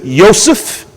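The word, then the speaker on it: יוסף: Hebrew is Yosef, is how you pronounce that in the Hebrew.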